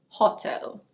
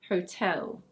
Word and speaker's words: hotel: Lots of people learning English say "HOH-tel", but the stress is actually on the second syllable and the first vowel sound is a diphthong. In British English it's: hotel.